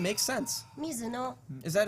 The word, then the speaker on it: Mizuno: Mizuno. Is that how it's pronounced? Mizuno? Mizuno.